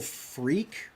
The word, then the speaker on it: FREQ: It is at the Global Freak with the Q. It's FREQ, like how Freak Girl is spelled down here.